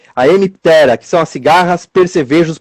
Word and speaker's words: Hemiptera: Tem a Hemiptera. É sempre jogar a sílaba tônica lá mais pro finalzinho. A Hemiptera, que são as cigarras, percevejos, pulgões e as colchonilhas.